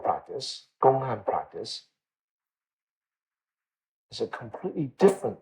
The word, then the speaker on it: 公案: Gong'an, Chinese, Japanese is kōan. Huatou is Chinese, Japanese is Huatou.